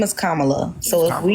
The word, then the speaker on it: Kamala: So Kamala Harris set forth What policy?